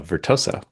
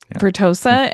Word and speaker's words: Vertosa: He's CEO of Vertosa. Am I pronouncing that correctly? Uh Vertosa. Vertosa.